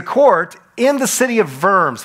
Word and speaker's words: Worms: in the city of verbs whenever you see German and a German word and it's a W it's always pronounced with a V it's verbs not worms don't think Nightcrawler so